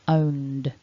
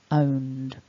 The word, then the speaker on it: owned: of that n ending our ed form that is written is actually pronounced just by adding a d sound so it's owned owned as always we've got